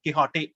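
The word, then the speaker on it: Quichotte: இப்ப ரீசெண்டா, அதாவது 2019ல பப்ளிஷ் ஆன சல்மான் ரஷ்டியோட கிஹாட்டே, அவரோட ஸ்பெல்லிங் அப்படிதான் எழுதியிருக்காரு. நாவலோட பேர் பாருங்க, QUICHOTT, ஏன்னா அதான் ஸ்பானிஷ் ப்ரொனன்சியேஷன், டான் கிஹாட்டே. அப்ப கிஹாட்டே அப்படின்னு சொல்லிட்டு தன்னோட நாவலுக்கு பேர் வச்சிருக்காரு.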